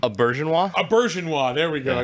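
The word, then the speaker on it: Auberjonois: did we how did we settle on that pronunciation a bergenwa a bergenwa there we go yeah yeah yeah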